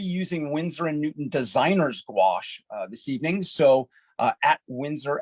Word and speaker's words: gouache: We're going to get into that, and that's how you say it. At least how I say it is gouache. Some people, some of my British colleagues say gouache.